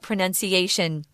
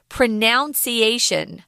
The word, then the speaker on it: pronunciation: Oh, also, guys, while we're talking about pronunciation, I hear a lot of people say this word pronunciation. That's wrong. Pronunciation. The verb is to pronounce, that ow sound, pronounce, but the noun is pronunciation, so be careful with it. It's weird, but that's an exception there.